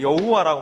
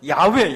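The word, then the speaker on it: Yahweh: 정확한 이야기는 나는 야다 우리가 여호와라고 말하는데 정확한 표 그 발음은 야외 야외 나는 야다 야가 무슨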